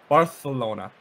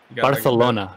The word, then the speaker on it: Barcelona: you're talking about uh barcelona actually the correct pronunciation it's uh barcelona barcelona yeah it's a bit of a lisp barcelona there's big pronunciation